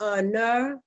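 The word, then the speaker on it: נר: And it's the word for lamp is the noon, and it's the resh. And it would be pronounced ner.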